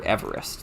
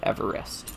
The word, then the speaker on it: Everest: of the world but I've always heard Everest like a three-syllable Everest you know um anyways the